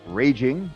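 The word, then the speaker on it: Rage Ing: website yet but uh my name is rage r-a-g-e my last name is ing which is spelled n g pronounced raging i'm raging so come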